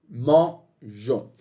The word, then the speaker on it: mangeons: A gente não falaria mangeons, a gente falaria mangon. E para evitar essa mudança de som no G, okay? Na letra G, a gente vai adicionar o E para manter então essa pronúncia de J, mangeons.